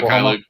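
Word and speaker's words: Mykhailiuk: I know they traded, how do you say it, Mikhailuk or something to Oklahoma? Mikhailuk.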